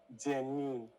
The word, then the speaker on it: genuine: Genuine or genuine? Genuine. Genuine. Like Gen Z, Genuine.